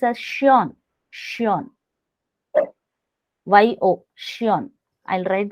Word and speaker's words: schön: Like an adjective I have found here, Mm, beautiful is called shion. mm, Shion. Oil is called yol, pronounced as yol.